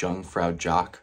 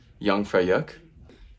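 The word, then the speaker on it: Jungfraujoch: for you English speakers it looks like Jung fraud Jock It's not pronounced that way it's yang freyuk it's gonna be a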